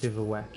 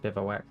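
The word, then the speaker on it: bivouac: goes actually south bowwack is good it's pronounced bivwack guys. I think it's French.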